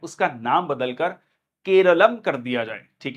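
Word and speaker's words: കേരളം: क्योंकि केरला जो शब्द है वो इंग्लिश ट्रांसलेशन है, मलयाली भाषा में जो है इसका नाम केरलम है, मतलब जो लोकल प्रोनाउंसिएशन है दैट इज केरलम।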